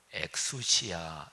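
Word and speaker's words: ἐξουσία: 라는 단어는 아 어 헬라어로 액수 시야 이렇게 발음 하는데요 이건 뭐냐면 이런 거를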